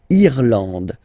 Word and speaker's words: Irlande: Remember, this is E, and it should be pronounced like E. Irlande. Irlande. Okay, A-N, en, D, and final E, not pronounced. Irlande.